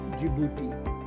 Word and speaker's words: Djibouti: डू यू सी, डू, जिबूटी। ये spelling देखिए इसकी डी से शुरू होती है, DJIBOUTI, जिबूटी। जिबूटी की कैपिटल भी जिबूटी